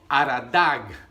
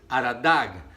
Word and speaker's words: Aradag: Y yo he estado entre ellos allí en estas montañas, pero los persas les nombran la montaña Aradag. Aradag. Entonces como Ararat, pero ellos lo pronuncian de esta manera.